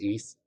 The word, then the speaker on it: Ys: of action rpgs called the east ys pronounced but it's pronounced east series i don't know if